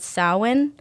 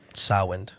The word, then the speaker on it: Samhain: Way back in the day, and it was called Samhain. Samhain. Yeah, Okay. Samhain. Samhain. And it's spelled totally not like I can't spell.